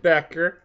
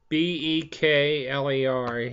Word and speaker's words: Bekler: It's a Ismet Beckler, excuse me, Bekler, he pronounced it.